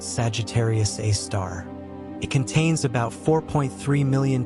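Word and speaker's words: Sagittarius A*: The asterisk in its name is pronounced a star.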